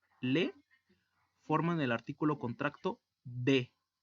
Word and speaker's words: des: Ahora, si se une la preposición de plus le, forman el artículo contracto de. Se pronuncia de y se escribe D-U-S, o sea, D-E-S.